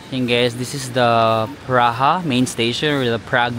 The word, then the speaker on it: Praha: train station is called PR baka yun yung pronunciation hindi English PR so we made it to praha um Ayun lang ay labas na agad no